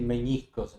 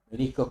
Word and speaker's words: meniscos: Palabra prohibida para los periodistas decir meñiscos en vez de menñiscos. Meniscos con n.